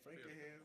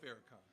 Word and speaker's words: Farrakhan: on October 16, 1995, organized by Nation of Islam leader Louis, I don't know how to say his name, Frankenham? Farrakhan. Oh, Farrakhan, my bad.